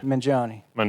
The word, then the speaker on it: Mangione: I always say it's like Joni Mitchell. Mangione Mitchell. So you don't want the Gioni, you just want Joni. If you want to say it and sound like you're saying it right.